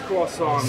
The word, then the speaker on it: croissant: It's French, so it is croissant. Yeah, it is a song. The tea is silent.